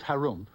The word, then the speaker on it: Harum: in the land of Harum which is pronounced like when you clear your throat there lived an ogre